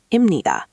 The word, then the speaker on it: 입니다: First, imnida is commonly pronounced imnida. The middle sound blends.